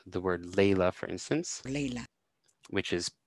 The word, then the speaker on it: laila: Layla. Which is spelled with an A-E is pronounced more like an A-E, and we can see that here on the chart here.